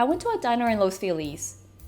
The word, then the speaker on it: Los Feliz: So the first part of that, I went to a diner in Los Feliz. Los Feliz? It's spelled Feliz, but it's not.